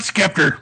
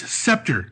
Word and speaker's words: Sceptor: No, it's not Skeptor, Royce. Scepter.